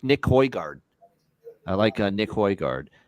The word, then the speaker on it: Højgaard: And I like Nick Højgaard. Nick Højgaard. Højgaard? Yeah, that's how you pronounce it.